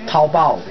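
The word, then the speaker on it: 淘宝: If in Chinese or in Han, pinyin, a P would be pronounced as Pao rather than Bao. So it's Taobao.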